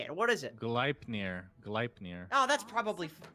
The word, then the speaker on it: Gleipnir: So you can go for like a Glepnir.